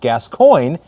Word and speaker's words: Gascoigne: My surname is pronounced Gascoigne, so you don't butcher it. Nailed it.